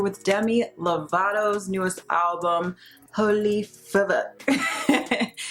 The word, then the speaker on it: Fvck: It's your girl Vanessa, and today we are here with Demi Lovato's newest album, Fvck. Yes, I know that's not how you say it, but there is a V in there.